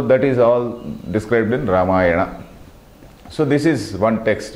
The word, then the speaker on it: Ramayana: Ramayana and Mahabharata Ramayana Rama iono Ramayana it becomes Ramayana we should not pronounce it as a Ramayana some anything like that Rama iono because the name is Rama the name of the character the name of the hero or the name of